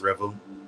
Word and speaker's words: R3vel: so uh you said Revel right this is pronounced Revel okay so tell us about you um there's